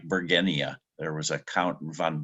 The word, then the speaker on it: bergenia: you do pronounce like bergenia there was a Count von Bergen and it's named after so it's a hard G Virginia we call it